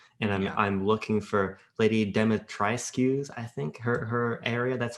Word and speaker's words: Dimitrescu: It's Demetrice. Demetriscu. No, the U is silent. Demetrice. Yes.